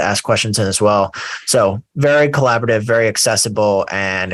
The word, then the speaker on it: Dassault: it covers seven investing so why don't we get into sew systems if you're reading the title it probably looks like dassault systems uh it's just so is the proper pronunciation um and it's a